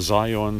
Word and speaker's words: Zhiyun: Zhiyun or Zion, some people pronounce it, Z-A-I-Y-U-N, Smooth 3 gimbal, 3-axis brushless motor gimbal for smartphones.